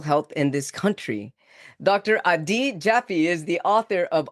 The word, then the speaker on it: Adi: So the first name is actually pronounced a D. Like pretend I know you never have, but pretend you got a really bad grade on the test. So it's a D.